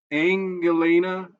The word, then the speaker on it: Anngelina: Pictured here is the daughter of the infamous United Healthcare executive, Anngelina Morton. Angelina. It's spelled Ann with a Gelina.